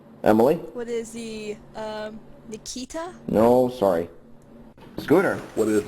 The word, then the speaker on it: Akita: correctly so uh yeah it's akita not nikita so uh scooter okay dogs for 600.